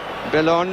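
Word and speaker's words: Bellone: And with his wrong foot, really, Belloni, to give him his correct pronunciation, struck it well, but too high.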